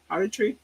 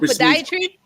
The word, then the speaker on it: podiatry: Podry. How do you say it again? Pottery. Oh, podiatry. Podiatry, which means you got feet problems.